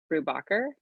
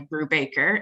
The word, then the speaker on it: Brubacher: Brubacher. Did I Hi, say good it right? morning. Yeah, Hey. that would be the more accurate pronunciation. We tend to go by Brubaker in North America.